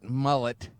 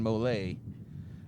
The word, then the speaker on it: Molay: Some people say they call it mullet, but no. We're going to use, he's from Louisiana, so we're going to use the French pronunciation Molay on this one.